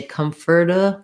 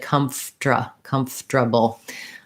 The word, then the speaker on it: comfortable: r comfortable comfortable um that one changes a little bit because sometimes we say comforta comforta with an er and sometimes we say it more like comfort comfortable i do have a